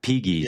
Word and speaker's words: Pegues: I looked up the pronunciation and now I'm messing it up. Pegues or something. Pegues, right? yeah, Pegues.